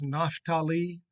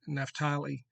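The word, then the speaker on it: Naphtali: born quickly through billah his name is nathalie we used to say Neftali however you want to pronounce it if it means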